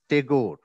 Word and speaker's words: Tagore: rabindranath takur is spelled as tigor spelt and pronounced as tagore so sheikh din muhammad was spelt and pronounced